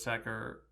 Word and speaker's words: Louis Sachar: of audio of Louis sacker mentioning how his own name is pronounced and he sets it sacker rhymes with cracker one of the stories